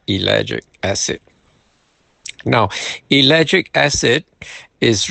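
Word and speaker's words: ellagic: It's spelled E L L A G I C. Elic acid.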